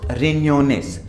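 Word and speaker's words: riñones: Loss रिन्योनेस, रिन्योनेस, because ये एन्या है, ये वाला एन है, ठीक है, एन के ऊपर ये है, एन्या है, ये एन्या, ठीक है।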